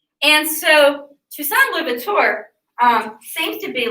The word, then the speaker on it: Toussaint Louverture: It is Toussaint Louverture. I'll spell it for you.